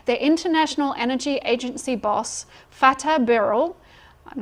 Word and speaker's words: Fatih: It says, "The International Energy Agency boss, Fatih Birol" I'm not sure if I'm saying his name wrong. No, it's Fatih. F T F A T I H.